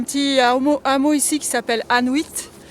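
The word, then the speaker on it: Annuit: Et à savoir qu'il y a un petit hameau ici qui s'appelle Anuit. Ça s'écrit A2N-U-I-T, ça sonne comme Inuit.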